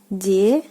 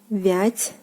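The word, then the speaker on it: девятьсот: 900. 900. 900. So basically, like the first two vowels are pronounced like E, D, V, and the combination of t plus the soft sign is pronounced like ц, ц.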